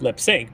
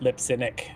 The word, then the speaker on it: Lipsinick: Is how it's pronounced. Not lip sync, but Lipsinick. 3 syllables.